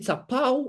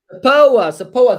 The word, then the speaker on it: SAPOA: SAPAO, or how do you pronounce it? SAPOA.